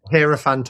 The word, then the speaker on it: hierophant: Like um the hierophant um sorry, am I am I pronouncing that correctly again? Yeah. What? Hierophant or hierophant? Either way works.